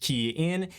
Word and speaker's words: Kian: Hey everyone, it's Kian for the Rideshare guy, pronounced Kian.